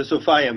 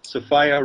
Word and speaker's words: Sophia: we're talking about the Sophia myth right the sopia myth as I call runs with desire sopia rhymes with desireah it's a little Gnostic Insider joke